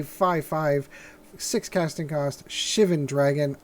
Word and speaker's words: Shivan: five six casting cast Shivan dragon I always counted Siobhan dragon for the longest time until I have heard it pronounced correctly so if you've ever